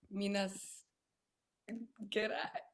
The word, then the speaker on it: Minas Gerais: Let me just ask Miss Rodriguez from University of Minas. Gerais. Don't. I'm sorry, my pronunciation is not great.